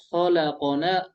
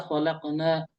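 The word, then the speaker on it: خلقنا: Nah, coba ini bisa dua cara baca ya. Bisa khalaqona, qafnya di fathah, bisa khalaqna.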